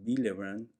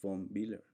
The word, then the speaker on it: von Willebrand: estos gránulos, y Weibel, recuerden que la W se pronuncia como V, y acá por eso decimos Willebrand, y la V en alemán es como F, entonces es von Willebrand.